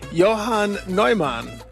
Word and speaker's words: Newman: Johan Noman. You may well ask who Yoan Noman is. Well, we call him John Newman, but I say it right. Johan Noman.